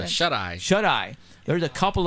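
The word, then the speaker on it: Shuteye: How do you pronounce that? Shut Eye.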